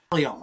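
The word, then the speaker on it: Taillon: You know why I like Talion? One of my favorite movies as a kid. I love Steve McQueen. Was Papillon. Talion. I don't know what Jason. He's a tosser. Talion.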